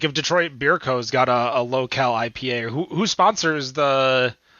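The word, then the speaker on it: Lowcal: is a locale um that's l-o-w-c-a-l not local and pronouncing it weird low cal um and i'm just not doing a michelob 64.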